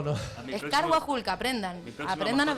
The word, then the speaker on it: Carhuajulca: A mi Es próximo- Carguajulca, aprendan. mi próxima Aprendan a mascota se va a llamar pronunciarlo.